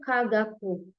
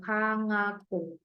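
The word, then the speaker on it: かがく: Nah, maka ini bukan dibaca kagaku, ya, tapi dia dibacanya sengau, kangaku.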